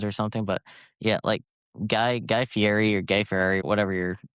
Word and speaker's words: Fieri: It's Fieri.